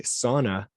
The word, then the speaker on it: sauna: No, the neighbor Mark said that if you look it up, Webster's dictionary, it shows you how to pronounce it, and it's Souna is how they say, in parentheses.